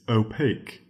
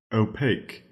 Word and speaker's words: opaque: it is not empirical our second word is opaque opaque that is spelled op a q u e opaque opaque